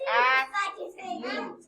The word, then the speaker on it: athlete: Now, is it athlete or is it athlete? It's athlete. The accent goes in the first syllable.